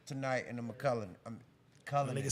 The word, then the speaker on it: Cullinan: McCullen? I don't even know how to say it. Cullinan.